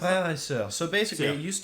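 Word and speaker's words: Frère et Sœur: How do you pronounce that? Frere et Soeur.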